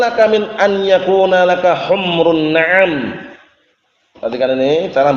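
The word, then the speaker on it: حُمْرُ: Bacanya bukan humur ya, humru. Memnya disukun. Jangan humur.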